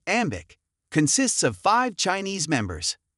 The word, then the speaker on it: AM8IC: AM8IC pronounced as Ambic consists of five Chinese members.